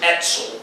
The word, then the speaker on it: Etzel: Now, very briefly, to describe the differences between the 3 main Jewish terrorist groups, Haganah, Irgun also known as Etzel because of the Hebrew pronunciation of the initials IZL, and the Stern gang known to Jews as the Lehi.